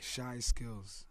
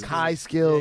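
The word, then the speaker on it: Chyskillz: Shy skills. Because I've only ever read it, and I'm like, I'm saying this wrong. how do you spell it? CHY Skills. SKILLZ. Shy skills. Kai skills.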